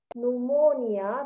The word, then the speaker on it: pneumonia: gonna pronounce that as pneumonia because the p is silent um and then